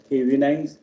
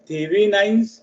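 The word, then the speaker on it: Thevenin's: आता जो थेरम शिकायचा आहे तो थेविनाइन्स थेरम आहे आणि त्याच्यानंतर जो शिकायचा आहे तो आहे नॉर्टन्स थेरम.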